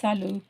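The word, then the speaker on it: salut: சின்ன பிள்ளைங்களோ அவங்களுக்கு இருந்தா சலு சோ கடைசி எழுத்தை வந்து நீங்க உச்சரிக்க மாட்டீங்க டின்றது வந்து உச்சரிக்க கூடாது சோ சலு சலுன்றது வந்து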